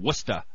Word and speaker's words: Worcester: They're going to be playing in Worcester. That was cool how you pronounced that correctly.